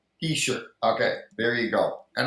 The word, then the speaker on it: Hischier: How do you pronounce it? Hischier. Heisher.